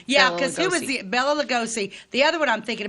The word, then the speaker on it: Bela Lugosi: I have no idea how to pronounce it. Is it Boris? No. Bela Lugosi.